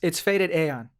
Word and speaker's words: FADEDAEON: So, how do you pronounce your stage name? Is it Faded Ion? It's Faded Aeon. Faded Aeon. Okay. Yeah. Or Eon, I guess.